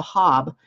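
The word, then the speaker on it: Haab: Their calendar that is closest to our Gregorian calendar was called the Hab, and that's spelled H-A''AB.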